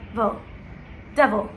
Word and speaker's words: devil: Vil, so not vel, not vol but vil, devil, okay?